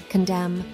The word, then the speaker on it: condemn: a voiceless consonant finally the letter N is silent in some words and it's not pronounced at all here are some examples of words that have a silent n condemn Autumn solemn damn him did you notice how the N is not pronounced in any of these words now it's time